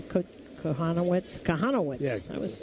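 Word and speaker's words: Kochanowicz: It's Jack Kohanowitz. How do you pronounce his name? Kohanowitz?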